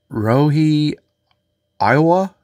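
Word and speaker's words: Ryohei Oiwa: to butcher this um Rie Iowa it's not the state of Iowa but it's R yo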